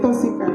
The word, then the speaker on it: charis: Le mot grec pour grâce se dit charis.